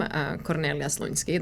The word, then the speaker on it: Kornelija Slunjski: I'm originally from Croatia, hence the name Kornelija Slunjski. That's how I would pronounce it in my language.